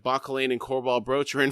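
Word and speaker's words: Bauchelain: You and the one named Bakolain." That's how Erikson actually pronounces it. I've been saying it wrong this whole time.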